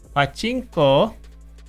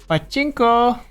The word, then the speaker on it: pachinko: Pachinko uh also uh don't don't say it like Pachinko achinko because then it's a bad it's a bad it the last part is the is the peepee make sure you don't put too much emphasis on the the Chinko